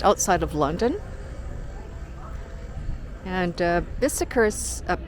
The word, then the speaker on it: Bicester: And uh Bicester's uh pronounced Bicester and it's spelled b i c e s t e r.